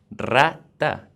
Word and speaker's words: rata: Rata is one R, but when we have one R at the beginning of the word, it's pronounced like double R. So rata means rat.